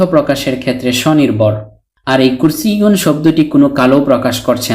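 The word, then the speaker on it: كُرْسِيٌّ: অর্থ দাঁড়ায় একটি চেয়ার অনেক সময় আমরা কুরসি বলে থেমে যাই শুধু কুরসি উচ্চারণ করে মুখস্ত করে থাকি অর্থাৎ ওয়াকফ করে ফেলি মানে শেষের তানুইনুনটি উচ্চারণ করি না কিন্তু আশা করি এখন থেকে আমরা এর পরিপূর্ণ উচ্চারণ করার প্রয়োজনীয়তা খুব ভালোভাবে অনুভব করতে পারব আর আমরা এই কুরসিউন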